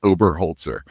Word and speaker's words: Oberholtzer: Um, it's uh it's Mike Ober Holtzer. It's just how it spells, but it's, you know, a lot of syllables there.